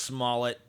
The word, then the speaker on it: Smollett: to make one more jussie Smollett video and you know of course some people say his name is pronounced male no it's not it's pronounced Smollett even if even if it is pronounced male